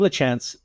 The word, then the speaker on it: Lachance: get get into it now is that how you say it l chance or is it that's it that's it thank you